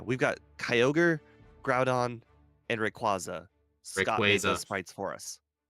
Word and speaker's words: Rayquaza: got Kyogre Groudon and Rayquaza SC spres for us I can't stand people who say it like that it's quaza like a quazar if you say so